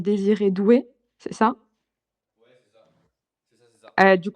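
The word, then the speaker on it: Désiré Doué: C'est normalement son nom il se il se prononce désir et doué.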